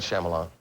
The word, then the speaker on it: Shyamalan: Now, this uh uh this this movie uh first of all, how do you pronounce the director's name? Might Shyamalan.